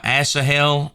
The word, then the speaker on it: Asahel: have that titled uh Abner kills um uh assahel and um Sparks a Slaughter and that is how you pronounce his name so uh one thing that